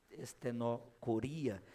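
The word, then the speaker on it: στενοχωρία: A palavra, né, que você pode ver aí na projeção que Paulo utiliza, seria a pronúncia estenocoria, significa literalmente um lugar muito estreito.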